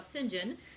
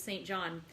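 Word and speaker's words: St. John: um i just want to do a quick brief story about sinjin so the name of that character it's actually spelled s t and then with the period and then j o h n so all the years that i read it i always thought of him as st john and i'm going to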